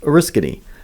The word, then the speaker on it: Oriskany: Our headquarters are located on 20 acres in upstate New York in a town pronounced Oriskany, approximately 40 miles east of Syracuse and 90 miles west of Albany.